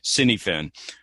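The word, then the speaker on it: Cynefin: snowden's work on on kniven which i i had to i had to research how to pronounce that thing because to the american tongue that's a cine finn apologies dave if you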